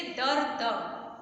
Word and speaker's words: दर्द: दूसरे वर्ण के ऊपर, तो बोलेंगे तो उसके भी पहले हम र का प्रयोग करेंगे। उच्चारण कैसे है? द र द, दर्द, ठीक है।